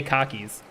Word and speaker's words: khaki: khaki pants like these I hear there are people there are people in America especially in like the uh uh the North and like um New England that say cockies cocky pants but I say khaki I'm vibing car